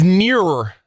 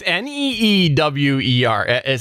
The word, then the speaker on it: Neewer: It's nearer. It's Neewer. There's two E's. I don't care how you pronounce it.